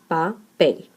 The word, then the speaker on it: papel: In this case, would be pel, papel.